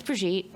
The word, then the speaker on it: Brigitte: so my name is brigitte the name is french yeah i have french